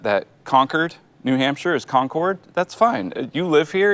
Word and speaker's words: Concord: to say that that Concord New Hampshire is Concord that's fine you live here you establish the